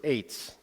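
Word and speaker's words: עץ: tree the way it's pronounced in Hebrew is Eights and it is spelled e-t-z or e-t-z or ATZ either one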